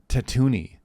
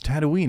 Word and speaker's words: Tatooine: friend growing up that he would pronounce Tatooine Tatooine, and I was like, even when I was like in 6th grade, I'd be like, no, it's Tatooine.